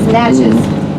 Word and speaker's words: Natchez: We say it like a box of matches. Natches.